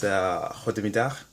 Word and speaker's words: goedemiddag: And basically that sound is how they say G. That's how they pronounce the G in Dutch. I don't know why, but G sounds like in Dutch.